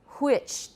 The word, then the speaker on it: which: this case not because the horse sound like in which w-h-i-c-h is absolutely totally gone from standard british joseph beaujon rp though